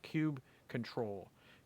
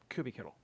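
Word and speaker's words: kubectl: cubectl, cube control, uh, or or cubby kit as I pronounce it.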